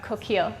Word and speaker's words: Coquille: If I'm correct, you grew up in Coquille? Is that the way to pronounce it? Well, we would say Coquille. Coquille? Okay. In Oregon, Right. yeah. So, But it's a French word, so I'm sure at